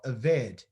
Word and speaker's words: aved: An avad is a servant, and to serve is called the same word, but it's pronounced a little different. It's called aved, okay?